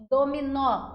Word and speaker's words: dominó: Dominó, o nó é mais forte.